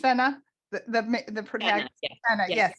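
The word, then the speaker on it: Fenna: so the premise of the story so it's pronounced Fenner the the pretty planet yes so she's a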